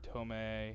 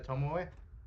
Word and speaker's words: Tomoe: Marie and Tomei are there. Misaki is gone. これ Okay. は It's Tomoe, by the way. Sure. I believe that. Japanese is a language where you basically pronounce every vowel.